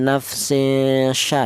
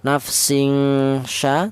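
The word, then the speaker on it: نفس شيئا: Cara bacanya ini ya nafsin sya ya. Jangan terlalu apa kalau ifa adna terlalu denggong nafsing sya tidak boleh atau terlalu samar ifa nafsin sat juga tidak boleh.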